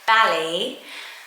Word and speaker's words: Bali: the grain as well but it is Bali rhyming with a valley um but it's a